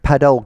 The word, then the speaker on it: padel: So compacted earth, synthetic padel grass. I mean, they spell it paddle, but it's padel grass, like what is used on padel courts.